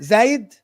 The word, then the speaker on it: Zayd: The next one is Zayd, I think. Yeah, that's how you pronounce it. Assalamu alaikum. Assalamu alaikum. Zayd?